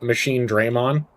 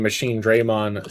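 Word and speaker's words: Machinedramon: Do you pronounce it Machine Drammon or Machine Draymond? And I pronounce it machine Draymond.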